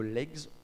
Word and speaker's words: legs: et littérature comparé aux legs on prononce bien le S de legs le laboratoire d'études de